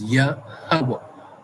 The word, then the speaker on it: Yahweh: Right, and so the tongue, the pronunciation of the Most High's name is Yahweh.